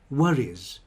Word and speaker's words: worries: worries about the future and remember the pronunciation is just is at the end there the pronunciation doesn't change to es he worries no there is no es the pronunciation is worries he worries about the